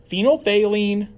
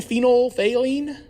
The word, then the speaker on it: phenolphthalein: and d are some mixture of hydrochloric acid phenolphthalein sodium hydroxide and water now one of the